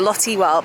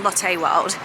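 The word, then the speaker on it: Lotte World: And I know I've been calling it Lotty World, but I think it's actually pronounced Latte World.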